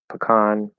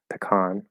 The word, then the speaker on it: pecan: pecan is a pit pecan yeah lots of variation there um but yeah that's a common thing I think Western Americans usually say pecan and other Americans say um either pecan or pecan so which is kind of